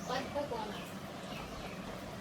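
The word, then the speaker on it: Baddha Konasana: Buddha Konasana.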